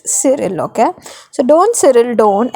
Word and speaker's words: Cyril: Now यहाँ पे Cyril is a wrong pronunciation, student. It's Cyril.